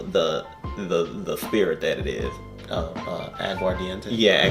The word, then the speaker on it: aguardiente: Aguardiente? Yeah, aguardiente.